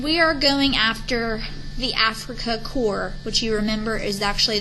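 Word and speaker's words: Afrika Korps: are going after the Africa core which you remember is actually the German um Fighters and soldiers in North Africa Africa spelled with a K and then core spelled with a K also within a few months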